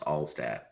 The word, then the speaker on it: Altstadt: This is the second Altstat that we've had I think on the I, pod. I I like the emphasis, but I think it's just pronounced Allstat.